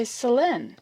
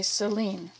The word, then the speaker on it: Selene: calling your name wrong I've got to say Selen yeah I have to leave off the the e at the end when I write it okay because otherwise I'll say Seline I think did I